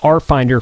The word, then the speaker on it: RFinder: So it's spelled RFinder for repeater finder, but the RF is capitalized, so it's like a play on words, RF finder, but there's only one F.